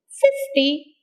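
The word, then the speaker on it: fifty: like that the words with multiples of tens take stress on the first syllable they take stress on the first syllable 50 60 like that you can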